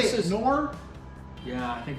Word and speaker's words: Knorr: Knorr? Yeah, I think it's Knorr. It's Knorr.